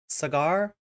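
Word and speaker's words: Saagar: his name right wrong is it s s s cagar is that really how does it really sound like cigar but with a a often times in American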